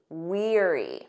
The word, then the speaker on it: weary: pair we have weary listen to that pronunciation Eerie like ear weer weary this means very tired